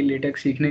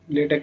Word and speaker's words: LaTeX: तो इसका मतलब है कि आपको लेटेक के बारे में पहले से थोड़ा सा पता है। इसको प्रोनाउंस भी ठीक करना, ये लेटेक्स नहीं है, ये लेटेक है।